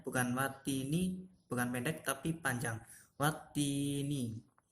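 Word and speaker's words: وَالتِّينِ: Perhatikan pada kalimat watini. Di situ ada tanda tasdid atau harokat tasdid. Nah, huruf ta itu harus didobel. Jadi bacanya bukan watini tapi dibaca wati. Wat. Itu t-nya ada double ya.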